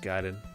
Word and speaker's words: Gaiden: I saw them do Ninja Gaiden once. That was really fun. I know it's pronounced Gaiden, but I do not care.